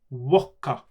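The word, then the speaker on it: ウォッカ: So not vodka or vodka, but wokka is the correct way to say vodka in Japanese.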